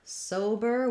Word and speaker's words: sober: let's cover that so for sober we have first syllable stress there's our o again so it's a diphthong we're holding that longer as well and then the letters er just say that unstressed er sound so i would rewrite